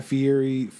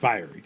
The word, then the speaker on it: Fieri: So the ones I've been on, they have Guy Fieri, I don't know how to pronounce his last name. Fieri, I think. Yeah, because it looks like it says fiery, but I know it's not pronounced fiery.